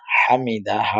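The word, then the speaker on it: حَمِدَهُ: না সেজন্য হামিদাহ হামিদাহ এই যে হা এর উচ্চারণটা আমরা শেষে করতে হবে সামিআল্লাহু লিমান হামিদাহ সামিআল্লাহ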